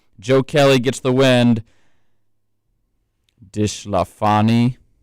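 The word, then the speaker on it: DeSclafani: Dishlafani gets the loss, I think is how you got to pronounce that. Maybe Disclafani? Disclafani? I think you're saying it with too much of an accent.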